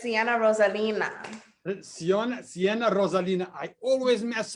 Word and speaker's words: Cienna Rosalina: No, it's Cienna Rosalina.